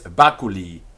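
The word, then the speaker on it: baculi: that's h-u-j-u-s who he is b-a-c-u-l-i who is bakuli who is bakuli of this stick question types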